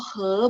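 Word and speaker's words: 喝: Kalau minum nada 1. He. Minum itu he nada 1.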